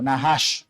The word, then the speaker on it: Naas: Un enemigo del pueblo de Dios, Naas, que curiosamente, mis hermanos, el nombre de ese de ese hombre Naas, que ya vamos a ver, significa serpiente o Nah, sí lo lo lo lo pronuncian.